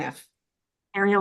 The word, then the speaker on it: Fariel: name by the way fario like Ariel with an F Ariel with an F so fariel thank you okay here